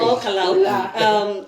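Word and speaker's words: Ol Kalou: county number 018, Nyandarua County, a place called All Kalau. All Kalau. All Kalau. All Kalau. Yes. All Kalau. Am I pronouncing it well? No, it's okay. Yes. You did well. Yes, All Kalau.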